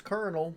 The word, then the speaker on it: Colonel: words there's no R yep that's Colonel there's not a popcorn co l o ne L in my tooth yeah cuz Colonel as in popcorn is spelled with a k Kol ome ho okay